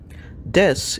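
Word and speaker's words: です: Also notice that though the word is spelled desu, the ending u sound is underpronounced.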